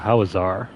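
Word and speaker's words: Hawezar: our first introduction to howazar let me go ahead and pull up our map so what is this housar es some people like to pronounce it how Weezer all right so this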